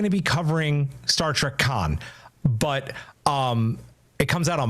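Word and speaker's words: Khan: I think you're saying that wrong. It's Con.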